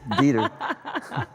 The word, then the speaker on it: Dieter: It sounds so German. Dieter, oh, yeah. I would imagine you would pronounce that right. It's Dieter.